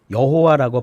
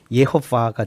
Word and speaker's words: 여호와: 우리는 하나님의 이름을 야훼 대신에 여호와라고 발음을 하는데요. 그렇죠. 예. 이것은 테트라그람마톤의 주님이라는 뜻을 가진 히브리어 문자인 아도나이에서 네. 이 모음만 딴 거예요. 네. 아오아이. 네. 이 모음만 따로 떼다가 이걸 붙여서 발음을 하는 겁니다. 그게 여호와예요? 예, 그래서 네. 이 자음마다 음가가 다 있거든요. 네. 거기다 네. 이 모음을 갖다 붙이면 어떻게 되느냐면 예호바가 됩니다.